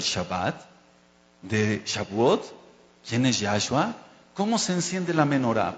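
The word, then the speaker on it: יהושע: Y se escribe Yod, Hei, Bab, Shin, Haim. Y se pronuncia Yahshua.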